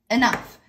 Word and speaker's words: enough: Now, when we say it enough, when it's just one word, we pronounce it as a long E. But when you say it in a sentence, because I had this conversation with my friend the other day, short E sound. Short vowel.